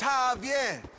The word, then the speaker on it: Javier: you don't get it it's Javier it's pronounced like an H yeah what you mean